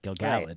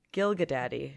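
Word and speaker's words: Gil-galad: anyone said that but it took me so long to unlearn um gilgallad gilgalod or gilgalod excuse me yeah it it see now I'm saying correctly because I had to train myself Gil gallet is how you say it uh because I was always I would always say um Gilda daddy gilgalod um I believe yeah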